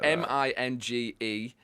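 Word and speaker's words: Mingenew: right but that's right yeah it's called but it's spelled m-i-n-g-e-n-e-w so it's spelled Minge new oh yeah at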